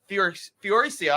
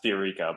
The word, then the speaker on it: Fiorica: We are going to start off with new caller, Fioricia. I'm sorry if I mispronounced that. Did I get that right? Close. It's actually pronounced Fiorica, but Fiorica, I apologize.